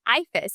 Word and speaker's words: IFAS: IFAS is how you say that.